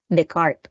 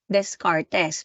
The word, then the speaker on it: Descartes: Kay René Descartes, okay? Kay René Descartes. Kaya nga ano siya, Cartesian, okay? Anong spelling ng pangalan ni paring René? René Descartes. Pero yung iba ang basa nila, Descartes.